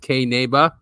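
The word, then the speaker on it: Qinneba: well it's spelled q-i-n-n-e-b-a it's a weird spelling because it's ancient Aramaic and it means hemp in uh in Aramaic so q-i-n-n-e-b-a uh it's also pronounced K neba and it is a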